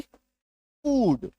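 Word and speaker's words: food: बड़ी उकार की मात्रा F double O डी फूड M double O N moon T double O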